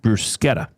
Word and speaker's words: bruschetta: Now, I've always said bruschetta, but I think it is properly pronounced bruschetta. Is it? Not bruschetta? Well, he says Italian pronunciation. He clarifies bruschetta.